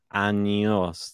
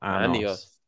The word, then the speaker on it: años: You gotta make sure you say años though, not anos. Not anos. Because anos is anus.